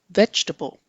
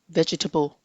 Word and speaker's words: vegetable: Today's word is the noun vegetable. Vegetable. Vegetable. Do not say vegetable. It is vegetable.